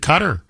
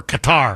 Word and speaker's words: Qatar: We protected Qatar, or Qatar, however you want to pronounce it.